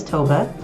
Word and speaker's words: Tove: will first say yes my name is Toba it rhymes with Nova so if you can't remember you can just think toga drove a nova and you get back